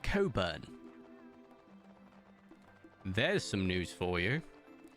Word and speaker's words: Cockburn: ] bur right but it's not pronounced cockburn no it's pronounced Coburn there's some news for